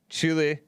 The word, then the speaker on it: Chile: about south africa australia chile chile chile yep i used to pronounce it chili and something else uh